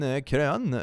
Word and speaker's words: Karian: That's how it's pronounced, yes indeed. Norwegian Karian, meget, very nice.